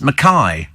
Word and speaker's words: McKay: ENT thank you uh McKay in Scotland is pronounced maai says I know I